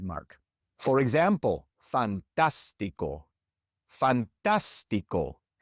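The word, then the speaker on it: fantástico: For example, fantastico. Fantastico. In this word, we stress the third to last syllable and so it must have a written accent mark.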